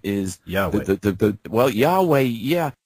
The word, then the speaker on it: Yahweh: God's name is Yahweh. Yahweh, yeah. There's actually a closer pronunciation, Yahuwah. But Yahweh works.